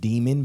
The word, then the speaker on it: daemon: Named Demon, basically. Yeah, it's named daemon.